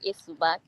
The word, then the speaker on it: Esubag: s subac is it a subac did I pronounce it properly yes it's called a subac okay so and that sounds that sounds bakosi